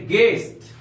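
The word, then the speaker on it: guest: हम लोग क्या जैसे गेस्ट जी यू ई एस टी गेस्ट you silent है गेस्ट का अर्थ होता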